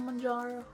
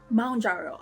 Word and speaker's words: Mounjaro: here if you're taking mararo M jaro okay from the video I did learn that it's pronounced M jaro like a mountain if you're taking it